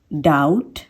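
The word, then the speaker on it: doubt: कम words हैं, पर उन वर्ड्स में जिनमें बी के बाद में टी आता है और वो बी टी से एंड हो रहे हैं तो उसमें हम बी को प्रोनाउंस नहीं करेंगे, जैसे कि date, date, डाउट, डाउट, okay.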